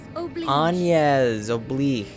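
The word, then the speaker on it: Agnès Oblige: Agnes Oblique.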